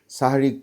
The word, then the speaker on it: সাহরি: কি মত পার্থক্য আছে অনেকে বলবেন দেখবেন বলবেন সেহেরি খাইছি সেহারি মানে বলতে বলতে এরকম করে কিন্তু উচ্চারণটা হবে হচ্ছে গিয়ে সাহারি শেষ সময় সাহারি